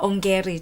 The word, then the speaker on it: Ongeri: Ongeri.